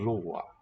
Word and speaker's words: blåa: So, in an open syllable, this A with the circle diacritic, the AO combination, is a diphthong in modern Swedish, would be blåa.